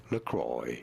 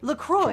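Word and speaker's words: LaCroix: Lacroy. Lacroy.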